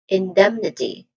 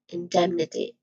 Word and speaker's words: indemnity: short e sound and then them with another short vowel sound but it's an it's a it's an e sound and then n with awah vowel with awah sound or we can stressed vowel sound and then t with a short e sound still this primary stress is on dem.